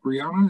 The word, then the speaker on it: Brianna: Is that Brianna? Is that how you say it? Yeah.